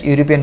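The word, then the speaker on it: European: যদিও ভাবলে আরম্ভ হয়েছে ইয়ার প্রথম উচ্চারণ কি হয়েছে ইউর নিচিনা হয়েছে গতি ইয়াতে আমার কি নহয় আমি নিশ্চয় জানো যে ভাবল ব্যবহার করবে যদি ইউর নিচিনা উচ্চারণ হয় প্রথমখিনি তেন্তে তাত কি হয়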